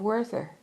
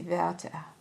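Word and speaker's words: Werther: the first edition of Worther. You know, I'm pronouncing this wrong. Let me see. Va is how you actually pronounce it. It's a German word, but uh it's we rer t.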